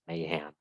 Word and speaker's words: Mayhem: miss prouncing the name a is like the most versatile vowel in the entire English language so having two ways in my name makes it hard uh the way I pronounce it is Mayhem but uh I've gotten